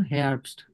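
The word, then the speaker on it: Herbst: এরপর আসেন হেয়ারবস্ট, শরৎকাল। শরৎকাল কি হয়? সেপ্টেম্বর।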